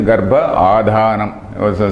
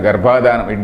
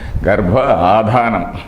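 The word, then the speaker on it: Garbhādhānam: That is Garbha Adhanam. Some people, many people pronounce it as Garbhadhanam. There is no dhanam there. There is no question of dhanam. There is no donation there. Garbha Adhanam.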